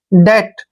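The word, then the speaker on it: debt: डी ई बी टी जब भी टी से पहले बी आता है तो वहां पर बी साइलेंट होता है तो डी का उच्चारण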